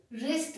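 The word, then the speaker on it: wrist: रिस्ट watch है, रिस्ट, डब्ल्यू के बाद आर, रिस्ट बोला जाएगा, डब्ल्यू को प्रोनाउंस ही नहीं करेंगे।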